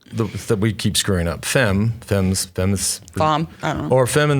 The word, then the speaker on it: Femme: looking at in fact it rhymes with Wham slam thank you ma'am that's what he says